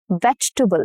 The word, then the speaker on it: vegetable: Vegetable. So it has about 2 to 3 syllables and not 4. Okay. Vegetable, not vegetable. No. Vegetable. Okay, 3 syllables.